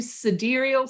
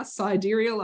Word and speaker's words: sidereal: astrological planner yes you suderial sidereal enthusiasts i will say it correctly now sidereal i'll say it without the australian accent sidereal enthusiasts we get our own planner in 2023.